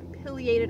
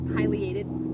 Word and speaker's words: Pileated: we have around here p filiated or Pileated both pronunciations are correct on natural is said